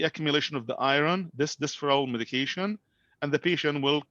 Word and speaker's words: Desferal: Like in this case will be like Desferal.